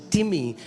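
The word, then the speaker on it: τιμή: Do you know the word honor comes from the Greek word timi? It's the spelling is like time, T-I-M-E, but it's pronounced as timi and it means heavy.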